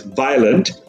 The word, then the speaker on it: violent: a bit confused because they're two vowels together I and O and they tend to pronounce the second one first because probably it's easier